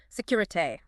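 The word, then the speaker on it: Sécurité: Security. Security pronounced security.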